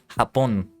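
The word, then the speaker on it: Japón: I didn't mention this, but that's how you hapon is how you say it in in Spanish. Japan in Spanish.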